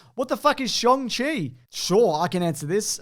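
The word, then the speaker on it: Shang-Chi: bone saw unfortunately jordan says what the is shong chi sure i can answer this uh it's the way you pronounce it i for years thought it was shang chi but apparently that is that's a pronouncer so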